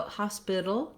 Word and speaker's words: hospital: in the dictionary, but it means that Americans will use, rather than a T sound here, they're going to use something that sounds more like a D sound. It's called a flap. So hospital, dull. I'm going to lift up for that T sound and I'm going to make it a little more like a light D.